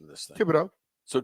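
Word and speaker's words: Thibodeaux: pronunciation of this thing Tibido so tib not thib yeah tibbido the H is silent okay Tibido um fifth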